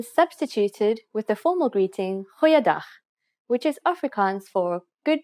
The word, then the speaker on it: Goeiedag: Goeiedag, ek is Anne-Marie Luck. Aangename kennis. Let's try that again. G. Try pronouncing it from the back of your throat.